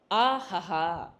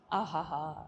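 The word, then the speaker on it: अहः: A, Hakara and Visarga. In Sanskritam, there is a difference between the Hakara, Ha alphabet, and the Visarga. Though the pronunciation could look similar, there is a lot of difference.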